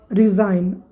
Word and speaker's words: resign: इन सारे वर्ड में G और N एक साथ है, GN एक साथ है। देखिए GN एक साथ है, GN एक साथ है, GN एक साथ है, GN एक साथ है, ठीक। तो ये याद रखना है कि जब किसी वर्ड में या वर्ड के शुरू में GN हो, ठीक है, क्या कहा मैंने?